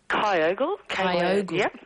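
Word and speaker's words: Kyogle: We have uh Linda from is it how do you pronounce it where you are? Kyogal.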